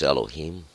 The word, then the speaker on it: Elohim: oh God Elohim uh you may excuse some of my earlier pronunciations it's Elohim uh keep not you